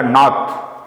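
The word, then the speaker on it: north: फिर है उसी तरह से स्पॉट में था नॉर्थ, आर साइलेंट होता है तो नहीं बोला।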